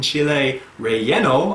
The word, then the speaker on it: chile relleno: chili rolleno spanish pronunciation chile relleno oh i guess it's like the spanish word for filled right uh is a